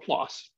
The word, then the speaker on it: PLOS: In biology for 10 years until last year when I moved to this nonprofit journal publishing organization called PLOS, rhymes with floss.